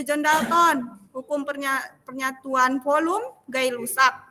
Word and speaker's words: Gay-Lussac: Kalau hukum perbandingan berganda itu John Dalton, hukum penyatuan volume Gay-Lussac ya, bukan G ya, dia bukan G ya, ngerti nggak? Namanya aja yang G ya.